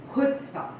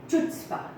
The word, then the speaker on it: chutzpah: two words so the first word is hood spa so if you don't know how to pronounce it you would call it chutzpah and if you don't